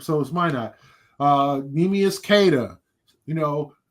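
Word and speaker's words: Minott: That's why he said pronounce it. Why not? So is my not.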